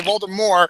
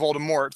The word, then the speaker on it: Voldemort: time I say it now I gotta say vold more not Voldemort so oh I'm still